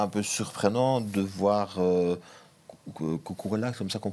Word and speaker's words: Cucurella: C'est vrai, et en même temps, est-ce que c'est pas un peu surprenant de voir Cucurella, comme ça qu'on prononce, Cucurella, oui, dans le 3 défensif.